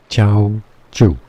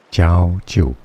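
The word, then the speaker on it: Jiaoqiu: Chinese pronunciation. Chiao Chu. Chiao Chu. Ciao Chu.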